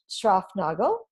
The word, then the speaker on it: Schraufnagel: And so I'm so happy to welcome Schraufnagel. Did I pronounce that right?